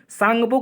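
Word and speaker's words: Tsangpo: है इसको कहते हैं tasangup यानी की सांगपो कहते हैं लेकिन इसकी स्पेलिंग टी से शुरू होती है ठीक है संघ पोथिक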